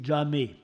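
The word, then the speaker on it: jāmé: Maintenant, l'autre terme attesté épigraphiquement, c'est le terme persan actuel jam, jamag en moyen perse, et en sogdien, bon, ça devait se prononcer jamé.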